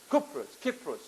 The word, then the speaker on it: Kypros: साइप्रस अब Same as Y pronounces a U. So Kypros.